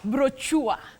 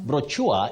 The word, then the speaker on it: brochure: Betty, many people innocently say brochure, but brochure is not the pronunciation of that word. Okay. You say brochure, brochure, or brochure. Sha or sure, brochure, but brochure, no.